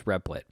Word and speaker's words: Replit: founder and ceo of riplet oh it's spelled rebel dot it but it's replit um very compelling interview